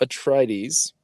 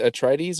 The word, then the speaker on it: Atreides: The synopsis goes, and I don't think I'm ever going to pronounce this correctly. Paul Atreides, right? Is it Atreides or Atreides? Atreides, I think Atreides.